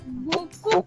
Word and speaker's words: beaucoup: Boku or is it Boku? T So is it is P is Boku there silent. or or P Boku? silent? P is silent. P is not pronounced.